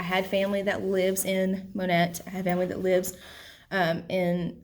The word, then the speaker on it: Monette: you probably heard the town monette that's how it's pronounced m-o-n-e-t-t-e monette um leechville uh the